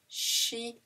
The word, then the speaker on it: chien: The I comes before the E. Chien. That's the I is an E in French. Chien.